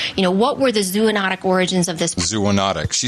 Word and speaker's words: zoonotic: that was zoonotic no we we've learned that that is not the way you pronounce it no it's zoonotic yes we have the